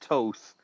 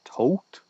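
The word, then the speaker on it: Thoth: is any butchering Toth I said Toth and I realized I'm saying it wrong it's a tote yeah I think it's just tote yeah and and the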